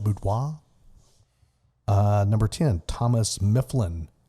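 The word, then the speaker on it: Boudinot: number nine Elias boudoir b-o-u-d-i-n-o-t I'm going to pronounce that boudoir uh number 10 Thomas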